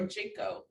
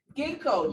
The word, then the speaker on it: ginkgo: i pronounce this or is it ginkgo or jinko ginkgo thank you ginkgo ginseng and valerian patients